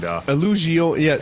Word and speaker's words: Illusione: And Illusioni, so Tim, you were right in the pronunciation of it.